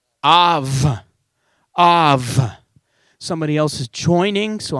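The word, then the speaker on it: אב: And it's Aleph, right to left, Beit, without the dot. Now, how would you pronounce that word? Av.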